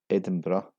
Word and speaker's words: Edinburgh: Edinburgh is the most famous mispronunciation. This is actually pronounced as Edinburgh.